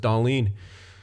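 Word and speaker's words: Dahlin: that's that's what happens when you call him dawn for so long and then you find out his name's actually pronounced Darlene it's hard man those Swedish names sometimes Erasmus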